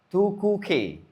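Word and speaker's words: tu quoque: Tukuke. Ataupun bahasa Arabnya anta edan, kamu juga. Kamu juga. Oke? Tukuke cara bacanya.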